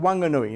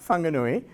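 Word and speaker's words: Whanganui: the way in those days it was called Wanganoi not Fanganoi. There was no H. Um, and I still refer to it as Wanganui because I've been reliably informed that the local WI don't pronounce the H.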